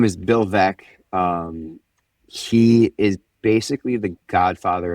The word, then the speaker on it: Veeck: Bill Veck, yeah. So his last name is spelled Veeck.